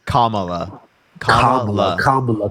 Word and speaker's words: Kamala: or Kam am I saying how do you pronounce it again Kamala comma okay camel okay there we go Anna